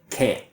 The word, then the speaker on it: can: So with can, the positive, there's two forms. We have the long emphasized form, can, and we also have kin, the reduction, kin.